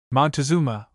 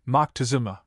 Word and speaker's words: Moctezuma: It may be said that some of the latter pronounce the title Mo. One of our philologists speaks of Montezuma, or more correctly, Mo Tecazoma. Note 82. Another authority says Montezuma, or more correctly, Moctezuma.